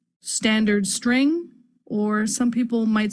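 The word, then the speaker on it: std::string: is STD colon colon string which is generally pronounced standard string or some people might say stood string we're using the string class from that standard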